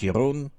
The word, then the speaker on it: Jeroen: Hallo, ich bin der Jeroen aus die Niederlande. Hello, boys and girls. My name is Jeroen. When that's too hard for you to pronounce, you may call me or Jerry.